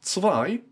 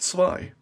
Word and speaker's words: Zwei: Passimian, Bunnelby, Reverse Bunnelby, Zweilos, Zwei, from a German word for two, and lose, I don't know, but Zwei, not zwei, it's ts, yeah?